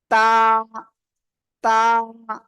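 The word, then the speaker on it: ت: জিহ্বার আগা খেয়াল করেন জিহ্বার আগা এই উপরে দুই দাঁতের গোড়ায় লাগান লাগান লাগান লাগান দ্রুত লাগিয়ে উচ্চারণ করতে হবে তা সবাই জোরে জোরে বলেন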